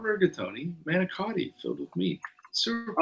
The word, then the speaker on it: manicotti: Manicotti filled with meat. Sewer pipes. Oh. It's pronounced manigot.